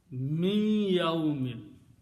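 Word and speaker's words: مِنْ يَوْمِ: When noon and ya come together, you pronounce this noon as a hunna. Min yawmin, not min anymore.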